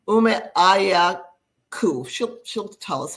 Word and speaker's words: Umeajaghaku: First order of business, please pronounce your last name correctly because I butchered it. Umeajaghaku.